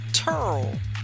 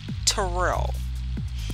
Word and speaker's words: Terrell: went to the school we were told to pronounce it turl instead of tyrell and yes the children from down around dc